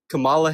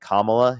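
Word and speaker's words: Kamala: Am I pronouncing her name wrong? Why do you keep Yes, you are. I I literally pronounce it differently. Kamla Harris.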